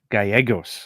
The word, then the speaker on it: Gallegos: here but it's NJ is it Galos gagos gagos okay I'm sorry um so